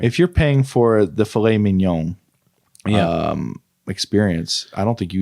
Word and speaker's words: filet mignon: Well, I believe it said filet mignon. Definitely filet mignon.